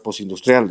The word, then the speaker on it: postindustrial: yo hablaba de sociedad postindustrial, y de esta sociedad postindustrial, postindustrial, para que luego no vayan a decir que no pronuncio bien las palabras, que tiene que sonar la T bien, ¿no?